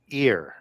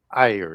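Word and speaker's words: עיר: And that word watcher goes back to the Hebrew word ear or ayr, depending on how you want to pronounce that, I-Y-R.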